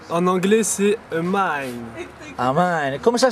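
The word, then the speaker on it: Amine: Je m'appelle Amin. En anglais, c'est Amin. Amin. Comment ça s'écrit, s'il vous plaît?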